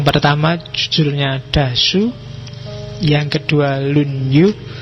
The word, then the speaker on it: Lunyu: Yang pertama judulnya Dasu, yang kedua Lunyu, bacanya misah ya, kalau disambung jadi Lunyu. Yo. Kalau Lunyu licin.